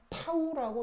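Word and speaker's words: τ: 이게 뭐냐면 적분 기호 D는 그대로인데 뒤에 있는 이 묘한 꼴 표시는 쓸 때 이렇게 쓰는 녀석이고 읽을 땐 타우라고 읽는 녀석입니다.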